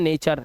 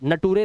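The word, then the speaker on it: nature: जब किसी वर्ड के लास्ट में यू आर इ आएगा तो यू आर ई को अर से पढ़ना। अर इसीलिए इसे पढ़ते हैं नेचर। नटूरे नहीं है।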